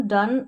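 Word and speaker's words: done: जैसे यहाँ पर देखें ओ के बाद में एक अक्षर छोड़कर लास्ट में ई है इन सभी में, फिर भी हम इसको ओ नहीं पढ़ रहे हैं, क्या पढ़ रहे हैं, अ प्रोनाउंस कर रहे हैं हम ओ को अ। जैसे कम, सम, डन और नन।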